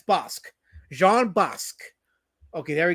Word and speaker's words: Bosc: He says I you can hear his name pronouncing. It's Bosque. Bosque. Okay, so there we go. So I've said it wrong.